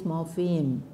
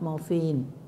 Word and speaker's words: morpheme: It is morpheme, not morphine.